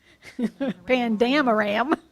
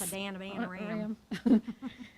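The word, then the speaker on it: Paddan Aram: Pandam Aram. Say it like Rosanna, Dana. Yes. Padana, Aram.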